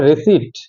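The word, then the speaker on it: receipt: लेकिन रहता है रिसीट, रिसीट में क्या हो गया, एस के बाद ई का वोवेल देन टी आ रहा है ना, पी वहां पे ओमिट हो जाता है, पी को प्रोनाउंसिएट नहीं करते हैं, है ना।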